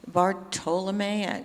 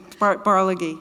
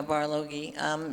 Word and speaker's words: Barlogie: Bartolome, I'm probably saying his name wrong, the old pioneer. Barloghi, yeah. Yeah, Barloghi.